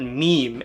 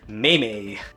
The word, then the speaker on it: meme: They knew how to pronounce the word meme and not may.